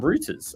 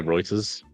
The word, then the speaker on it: Reuters: got from the uh from roters actually Reuters roters how do you pronounce it I say Reuters Reuters all right let's go Reuters this is the cut